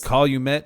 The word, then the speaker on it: Calumet: All right, Calumet, is that how you say it?